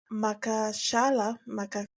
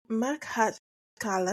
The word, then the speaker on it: Makhachkala: The Russian Chess Federation has suspended Amina Abakarova, a 40-year-old, a 40-year-old chess pro from Makashala, Makhachkala, excuse me, my mispronunciation, in the Russian Republic of Dagestan.